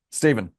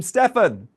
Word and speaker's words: Stephen: Hi, how are you, Stephen? Good, sir. How are you? I'm good. Is this Stephen or Stefan? Stephen.